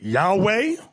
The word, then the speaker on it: Yahweh: known to them now depending on your form of hebrew you have some people announce it yahweh another group pronounces yahuwah we were taught yahweh